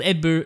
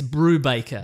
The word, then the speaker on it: Brubaker: it though yeah yeah I did say it wrong in my own defense just like I do it's Brubaker Brubaker to the end and it's about a